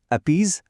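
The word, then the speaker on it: appease: শব্দটি হলো অপিজ বা অপিজ। এর মানে হলো কারো দাবি দাওয়া মেনে নিয়ে তাকে শান্ত করা বা তোষণ করা। এর উচ্চারণটা কিন্তু অনেকটা প্লিজ এর মতো।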